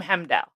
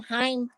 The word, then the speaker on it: Heimdall: I call him Hemdall. I call him Heim because it's H-E-I, like Heim. Yeah, but I think the I is silent. So it's Hem.